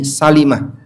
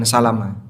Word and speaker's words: Salimah: Ada satu kampung yang dihuni oleh Bani Salimah. Kampung Bani Salimah yang lebih tepat bacanya Salima bukan Salamaah.